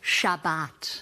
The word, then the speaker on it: Shabbat: We pronounce it Shabbat.